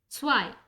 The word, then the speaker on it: zwei: 2 is pronounced as zwei.